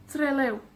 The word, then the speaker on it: Trelew: un lugar como trelew tiene la énfasis en las dos sílabas trelew y eso es porque son en realidad dos palabras no seré ciudad del